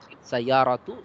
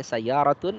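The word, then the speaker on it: سَيَّارَةُ: Ya, kemarin ada beberapa yang bacanya sayyaratun, nah ini keliru.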